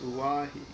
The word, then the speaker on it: Oahu: I named him after this island, Oahu, pronounced Oahi.